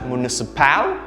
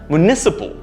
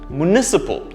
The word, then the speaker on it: municipal: complicated usually pronounced as municipal this is incorrect the stress is wrong here the stress should be there in the second syllable municipal municipal notice that the last